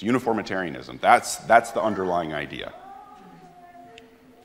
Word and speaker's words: uniformitarianism: on the slide here uniformitarianism or everybody say it with me uniformitarianism it's nine syllables okay uniformitarianism is the